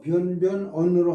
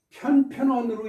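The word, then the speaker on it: 便便言: 근데 발음은 일반적으로 변변언으로 한다. 이렇게 일반적으로 이렇게 말을 썼는데 이건 무슨 뜻이냐면요. 왜 일반적이라는 말이 들어갔느냐면요. 편편언으로 읽으시는 분들도 있어요.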